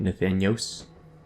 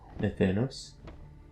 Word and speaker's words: Nathanos: I got a few comments on me pronouncing it Nathanios as being incorrect, so it's Nathanos, maybe? Nathanos.